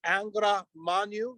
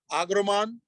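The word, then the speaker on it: Angra Mainyu: and uh it's as angra manu you'll hear different ways of how it's said but uh somebody say agroman so aggro magnum uh and uh he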